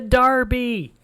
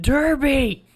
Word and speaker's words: Derby: don't know we're so excited for the darby um it's pronounced derby so after that um